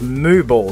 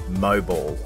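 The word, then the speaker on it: Mooball: stop for a brew next on the trail was moo ball station welcome to Mo ball or if you're fancy you might pronounce it moall we then went through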